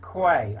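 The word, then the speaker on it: Quy: to DEFRA by Roger Quay. I think that's how you pronounce it, Q-U-Y, his surname is.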